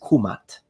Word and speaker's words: Kemet: So if we really want to be precise, then the correct and most likely pronunciation in ancient Egyptian, specifically in classical Egyptian, is Kumat, Kumatu, nominative, Kumata, accusative, and Kumati, oblique genitive.